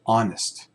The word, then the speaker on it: honest: A lot of people, you might hear people just say honest. They might not pronounce the H.